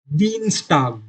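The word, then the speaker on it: Dienstag: दीनस्टाग Tuesday, इधर आई ई आया है तो आप इसको ई की तरह प्रोनाउंस करेंगे.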